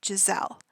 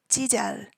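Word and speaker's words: Giselle: only other Foreigner and in English we say her stage name as Jazelle now in Korean they don't have the z sound um so instead of saying Jazelle they say jel didel so almost kind of a j now with her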